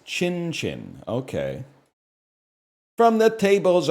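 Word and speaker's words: Qin: Chinese banjo called a Well, let's see what Wikipedia has me pronouncing it as. A a kin. It's Chin Chin.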